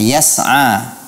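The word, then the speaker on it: يسعى: Juga masih pada kasus yang sama pada pelafalan kata yas'a. Yas'a nuruhum. Hindari memberikan qalqalah pada huruf sin.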